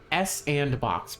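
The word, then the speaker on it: s&box: I need sodium S andbox pronounced Sandbox, which is supposed to be a successor to Garry's Mod.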